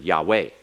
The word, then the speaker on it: Yahweh: It's accented on the last, it's not accented on the first.